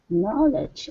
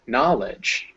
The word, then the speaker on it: knowledge: so it's gnaw ledge knowledge oh yeah there you go knowledge yeah there's a w written but there's no actual w sound and yeah and you